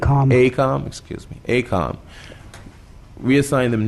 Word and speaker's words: AECOM: for us to reassign direction to the company, Avcon, am I pronouncing that correct? AECOM, excuse me, AECOM.